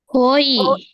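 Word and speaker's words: 오이: Can anyone pronounce this? Oi oi.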